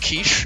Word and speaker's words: Kycse: They're actually talking about some random ass shit, so, you know, fun fact, Kyce's name is actually pronounced Quiche. Everyone call him Quiche.